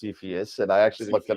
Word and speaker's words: Cepheus: what's the C in in insiphius it's actually pronounced CPS and I actually looked it up yeah it